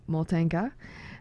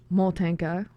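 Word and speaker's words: Motanka: And also, just to be clear, the word Moltenka, the syllable is stressed on the first Moltenka, because it comes from the Ukrainian word motate, which means to wrap or wind or bind, which is how the doll is made.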